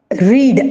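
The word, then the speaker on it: read: एक चीज याद रखिए spelling of रीड आर ई ए डी इसे हम रीड भी पढ़ते हैं और हम इसे रेड भी पढ़ते हैं रीड रेड रेड यानी first form second form and third व प्रोनंसिएशन डिफरेंट है स्पेलिंग इ the same now सी the second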